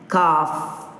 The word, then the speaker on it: calf: Next, with L silent words, they are half, calf, halves, calves, talk, walk, chalk, folk, so on.